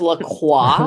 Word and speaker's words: LaCroix: It's pronounced LaCroix.